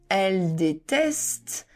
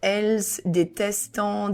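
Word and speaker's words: elles détestent: And here, be careful, is not elles détestant, déteste, something like that. The S of L is silent, the ENT is silent, so elle déteste les pommes.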